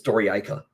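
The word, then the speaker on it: Dorayaica: The correct pronunciation is Syriani Doriaika. So I don't whichever one he says that way is correct. It's Doriaika.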